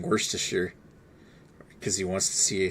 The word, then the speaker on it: Worcestershire: Worcestershire. Worcestershire. Worcestershire. Worcestershire. Yeah. It's Worcestershire. I don't know why. The root word's Worcester, and then Shire is Worcestershire.